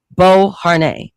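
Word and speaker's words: Beauharnais: Before he conquered much of Europe, Napoleon Bonapart was completely infatuated with Josephine de Bern, that's how you pronounce the last name, Bo Har during his Italian military campaign.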